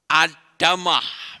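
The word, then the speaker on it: אדמה: kita lihat secara kata Adam dan belakangnya diganti tambah huruf Hei itu artinya tanah ada mah membacanya Adama itu artinya tanah mungkin Saudara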